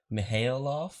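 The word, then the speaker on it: Mihailova: Mihailov.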